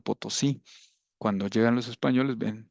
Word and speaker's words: Potosí: Entonces a ese cerro le pusieron Potoxi, que quiere decir el cerro que grita o el cerro que habla. Ujú. Entonces los españoles llegan y no saben pronunciarlo, entonces le llaman Potosí.